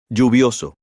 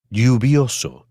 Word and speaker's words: lluvioso: You may hear it pronounced as J, for example, Lluvioso. or as Y, for example. Lluvioso. In Argentina and Uruguay, you may hear it pronounced as SH, for example. Lluvioso.